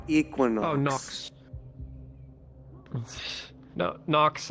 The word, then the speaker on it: Knox: like Equinox no no nox as in K there's a K in there yes k n o x he's he's very